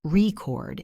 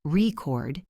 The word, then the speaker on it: record: The most famous example is the word record. If I stress the first syllable, record, it's a noun. I have a vinyl record. But if I stress the second syllable, record, it's a verb.